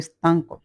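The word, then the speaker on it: stanco: অনেক ক্লান্ত এ স্তক স্তক উচ্চারণটা স্তাঙ্ক স্তক শব্দের অর্থ হল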